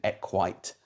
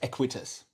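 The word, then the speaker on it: equites: are of the equestrian equite class, which means unless you own enough land. Actually, to keep horses. The correct word is equitus. I've been saying it wrong all around. Okay. It's equitus.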